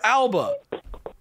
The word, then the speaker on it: Alba: Is it Alba or Alba? It's Alba.